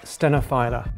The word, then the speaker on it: stenophylla: How do you pronounce stenophylla or phylla or stenophylla? It's Coffea stenophylla.